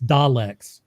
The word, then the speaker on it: Daleks: Everyone's saying it wrong. It's Daleks. Daleks.